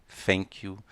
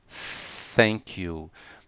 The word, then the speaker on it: thank you: ser ensinado a falar com som de F, thank you, som de S, thank you, e som de T, thank you. Não, as três pronúncias estão totalmente erradas. O correto é thank you.